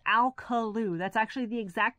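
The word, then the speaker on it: Alcolu: I think it is, people ask me how you pronounce that. It is Alkaloo.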